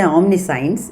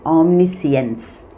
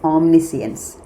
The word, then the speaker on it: omniscience: two words, omni plus science, you don't say omniscience, it is omniscience. The correct pronunciation is omniscience.